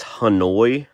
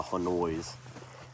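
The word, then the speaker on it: Honeoye: For example, here's one that is Hanoi. I think you pronounce it that way. H O N E Y O Y E or something like that.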